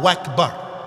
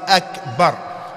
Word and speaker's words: Akbar: Allah is not Wakbar. Allah is Akbar.